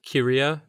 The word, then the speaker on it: Kiriya: the last name was Kiriya, kind of close to like Korea, but like K-I-R-I-Y-A.